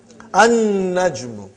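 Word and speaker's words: النَّجْمُ: An-najmu. You did not pronounce lam because noon is a shamsi, sun letter.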